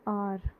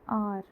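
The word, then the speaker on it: hour: फिर एक वर्ड है आर, आर, आर में स्टार्टिंग में हम लिखते हैं एच, ओके, एच लिखते हैं, बट एक्चुअल में एच जो है वो साइलेंट हो जाता है, और जब हम प्रोनाउंस करते हैं तो ए की साउंड से प्रोनाउंस करते हैं, आर, ठीक है, आर।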